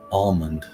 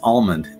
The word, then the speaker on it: almond: of wash that's true almond you know and I'm with you guys almond I I agree I've always pronounced the L as recently as the